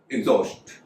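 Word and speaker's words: exhaust: जैसे एग्जॉस्ट, एग्जॉस्ट में एक्स के बाद एच है लेकिन एच साइलेंट है तो उसका उच्चारण हो रहा है एग्जॉस्ट।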